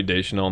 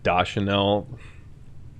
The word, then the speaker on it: Deschanel: wrong i hate zoe deschanel not da chanel not personally but for